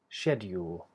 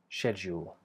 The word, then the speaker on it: schedule: version is schedule so version one with d would be schedule schedule version two is schedule schedule do you hear that slightly different consonant the JJ sound sounds a bit more Airy maybe um and less exact than a de and both of those are fine they're just different ways of doing it okay and a